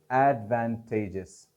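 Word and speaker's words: advantageous: मगर इसको आप जब OUS एंड में लगाते हैं इसके, तो एडवांटेजेस, एडवांटेजेस, तेजिस में आपकी प्राइमरी स्ट्रेस पड़ेगी।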